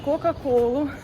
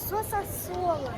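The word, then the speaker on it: Coca-Cola: Тобто можна було взяти кока-колу у меня є дома сосасола вочку А дома є кока-кола ні Нет Мама ты Неправильно говоришь Соса соло Толя ну аж так не читається но всё равно Соса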